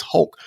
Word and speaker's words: Hulk: Because usually I say Hulk. Like, it ain't Huck, Daddy, it's Hulk. So Hulk is my number one.